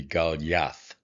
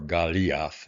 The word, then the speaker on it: Goliath: So um coming closer to how we pronounce it it would be galath or galath if you uh I guess following a long vowel this actually would be pronounced.